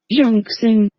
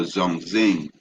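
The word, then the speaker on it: 中兴: It says Zong, pronounce this word, right? Let's see, right? Zhongxing. Oh, Zhongxing, right?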